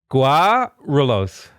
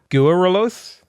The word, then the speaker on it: Guarulhos: I'll ask you to just pronounce the city's name because I'm fucking tired of not knowing. Guarulhos. Guarulhos?